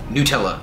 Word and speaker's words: Nutella: of full calorie decoder Nutella and yes it's pronounced Nutella not know toka Oh in and out anyone